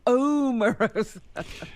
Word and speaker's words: Omarosa: She likes her name pronounced correctly. How do you say it? Omarosa. Omarosa? Yes. No, it's Omarosa, no? No, it's not.